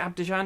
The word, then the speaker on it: Abidjan: Is it Abidjan?